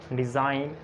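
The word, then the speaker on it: design: आप देखें एन से पहले जी साइलेंट है, इसको हम पढ़ते हैं साइन, रिज़ाइन, डिज़ाइन, line, campaign, चैंपेन और क्लोन और असाइन।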